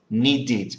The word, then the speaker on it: needed: with d okay however with need sorry needed we so we need to add an extra an extra syllable okay okay so this